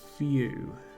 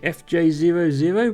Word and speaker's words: Fjoo: Well, this is FJOO. I pronounce that as Few. I could pronounce it FJ00, but that's a bit of a mouthful.